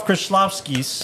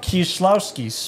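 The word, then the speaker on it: Kieślowski: We're going to talk about Krzysztof Kieslowski's. Colors. Kieslowski's. You said that pretty good. No, I think I got it wrong. Krzysztof Kieslowski's.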